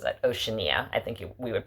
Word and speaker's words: Oceania: it's by bjork it's called oceania as she pronounces it oceania i think we would pronounce it probably oceana and the americas but um there's a point